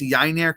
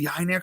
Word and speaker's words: Yennier: about someone I'm excited to talk about it's yiner canoe I will spell that for you guys if you're on the